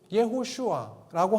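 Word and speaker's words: יהושע: 히브리어 발음을 조금 정확하게 쓰면은 여호수아가 이렇게 발음이 됩니다.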